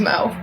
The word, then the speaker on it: Mo: look like an Amanda it rhymes with go wo my name's Mo oh hey look there's